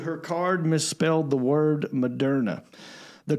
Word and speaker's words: Moderna: Well, no one says, right, it's the word modern with an A at the end.